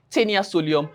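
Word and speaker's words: Taenia solium: understand I call it tenia soulium. So you remember the proper pronunciation is tenasolium and tenia sagenata.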